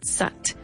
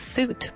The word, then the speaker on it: soot: Very good, sat. Se escribe con dos os. It's a little bit weird, right? You would think it's suit, but it isn't.